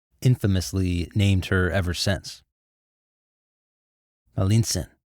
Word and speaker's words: Malintzin: Malintzin, or Malintze. The Spanish couldn't pronounce this, so they called her Malinche.